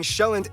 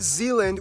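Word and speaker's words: Sjælland: With the largest island being Sheland, not Zealand, which is not to be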